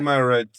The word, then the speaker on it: Primarald: Primarald. I hope I got it right. Primarald.